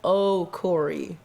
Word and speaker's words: Okorie: yeah okay and then my last name is just oh corey like like irish but not irish right yeah oh cory